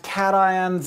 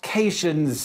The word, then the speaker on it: cation: become negative are anions you'll notice despite the rules of English that these are pronounced cations and anions not patient's in anyons the most basic ions